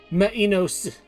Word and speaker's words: Minos: the corpse of King Minos Minos Minos minor Minos that that's that's the proper way to pronounce this Minos minoso Minos that's the that's the correct way did I try to